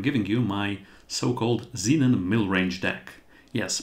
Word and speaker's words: Millrange: you my so-called Zenon mil range deck yes mil range that's a strange name and it consists of two parts mil and range and it's rhymes with mid range so honestly mil and